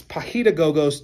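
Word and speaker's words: paidagogos: But the word is pahidagogos. It's pahidagogos, too many letters, too many syllables, but it's Greek.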